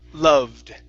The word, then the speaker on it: loved: Okay Instead of la loved Loved There you go Yeah So you've been saying an a sound saying he la love loved Loved He loved his father